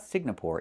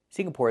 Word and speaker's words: Singapore: It's not Singapore, it's Singapore. The NG makes a sound in your nose. Sing, like when you sing a song. Together, Singapore. Not Singapore, but Singapore. Singapore is a country in Asia.